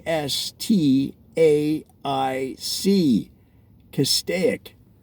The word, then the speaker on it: Castaic: see cast a ik now notice that I'm saying cast a ik but people that have lived there in the area for a very long time the old school the originals the oh geez how do they pronounce it well they pronounce